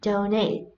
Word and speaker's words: donate: D, donate. Trọng âm nhấn vào âm tiết thứ hai.